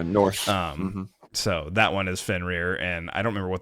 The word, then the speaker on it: Fenrir: It's Fenner. I'm telling you. How do you spell it? Spell it for me. I know how to spell it. Spell it. I know how to spell it. No, it's Fenrir. I'm not spelling it. Spell it. So it's spelled Fenrir. For those of you that don't know, it's Fenrir.